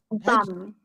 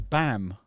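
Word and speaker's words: Baum: B-A-double-M is pronounced bum. Double M. Yes. Is it? Oh. Yes. Okay, that's strange. I'd have thought that was bam. Yeah, you would say bam like Bam Bam in the Flintstones, but no.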